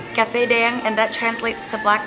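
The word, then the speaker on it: Cà Phê Đen: Am I even saying it right? Yes, you are. Well, in Vietnamese, it's Caphe Den, and that translates to black coffee.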